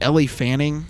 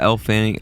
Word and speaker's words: Elle Fanning: Specifically, is it Ellie Fanning? Yeah, Elle Fanning.